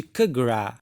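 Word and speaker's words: Capgras: E é o delírio de Kagra, essa é a pronúncia.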